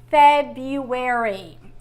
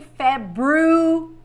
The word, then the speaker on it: February: Some people say February. And let's say, according to the origin of the word, the sound, you should say February, not February. But some Americans say February. So don't go crazy if you hear an American saying February, okay?